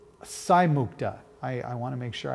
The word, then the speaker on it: Saimukta: So it's Saimukta. I want to make sure I pronounce her name correctly.